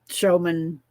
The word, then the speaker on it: Schuman: Showman, it looks like it said it's spelled Schuman, but it's showman. That's how he says it.